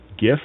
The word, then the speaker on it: GIF: how to pronounce uh GIF it's it's a hard G not like the peanut butter somebody says so thank